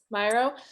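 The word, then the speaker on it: Miro: us right here how do you say it myro yeah myro so is this something that you recommend us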